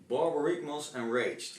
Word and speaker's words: Borborygmos Enraged: Boro Ragmos Enraged. Can you pronounce this one for me? Borborygmos Enraged.